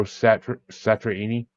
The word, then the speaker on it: Satriani: It's number 25 ranked Flying Saucer Rock and Roll by Billy Riley, or number 4 ranked, Surfing with the Alien by Joe Satriani.